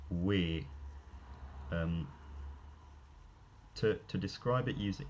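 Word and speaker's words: wē: will represent, for example, the Old English pronoun we, as in like us, they will say it's pronounced like way. Whereas in fact, it had a monophthongal pronunciation, ear, weir.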